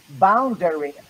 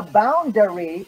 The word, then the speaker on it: boundary: So some people will say boundary. Oh, the boundary between Mexico and US is well guarded by the United States government. But it's not boundary, it's boundary.